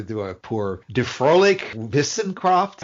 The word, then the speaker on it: Wissenschaft: Die fröhliche Wissenschaft. Say the last word one more time. Wissenschaft. The W in German is pronounced V.